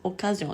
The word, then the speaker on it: occasion: Ce qui fait changer les sons, c'est la typologie des voyelles qu'on rencontre après la C. S'il y a EI, alors on prononce accident, accéléré. Si après il y a AOU, on prononce de façon dure, occasion, accusatif, occupé.